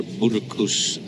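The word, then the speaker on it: Marrakesh: first meal here in Marakesh or murakush as I think the natives pronounce it I wasn't planning on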